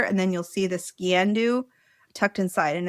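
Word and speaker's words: sgian-dubh: Specifically, I had to look up how to pronounce this. Sciandu, which is the hidden blade worn inside the sock of the Highland dress of the kilt.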